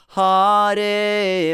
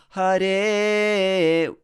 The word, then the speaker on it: Hare: and then okay here often i hear that hearty but it's not hearty that ha is a it's again it's it's a light syllable so hare will be more correct so don't stress ha in there all right